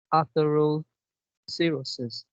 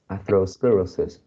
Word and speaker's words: atherosclerosis: the last fault line what you pronounce after all seriousness and it should be ethereal sclerosis okay uh atheroscle afro sclerosis atherosclerosis atherosclerosis sclerosis atherosclerosis oh